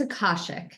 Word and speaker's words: Akashic: for having me and it's a caution so you had it the second time yeah just think chick like that's always a remember of chick okay even how to